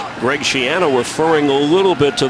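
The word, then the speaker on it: Schiano: And that's how Greg Shiano wants it pronounced. Shiano like piano.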